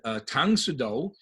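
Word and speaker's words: 당수도: of pronouncing karate and tongue sudo is the korean way of pronouncing like way of the of the china hand so they did not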